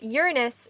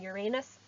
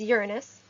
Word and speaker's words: Uranus: me go back and forth on this uh uranus is the correct correct pronunciation and we all have grown up hearing uranus but it is uranus and i will be going back and forth